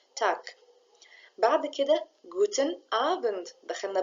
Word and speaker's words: Tag: جوتن تاك جوتن تاك وقلنا تاك والجي لما بتيجي في اخر الكلمه بتنطق شويه شبه الكي تاك بعد كده جوتن ابند